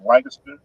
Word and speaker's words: Lancaster: like we say Lancaster in California, in Houston, there, and everybody else say Lancaster. Lancaster.